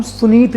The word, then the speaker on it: सुनीत: मेरा नाम है सुनीत और आप सभी का स्वागत है मेरे YouTube channel sunshine pig farming में। दोस्तों, मेरा नाम सुनीत है, । कई लोग पुनीत बोलते हैं, कई लोग सुनील बोलते हैं, ठीक है।